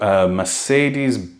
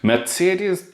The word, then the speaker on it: Mercedes: and we walked through Mercedes sorry let's say it properly because otherwise there's gonna be some Germans complaining Mitsy ideas bins Alena met series